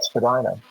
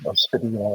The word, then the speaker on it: Spadina: His father had built a big, beautiful mansion up at the top of Spadina, or Spadina, as some people pronounce it, Spadina House.